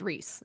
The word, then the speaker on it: Rhys: I just feel like rhy is ry, not re. Like sky. Like sky. Rise. I don't know how people get Reese, but that's how Sarah J. Mass said it's pronounced is Reese.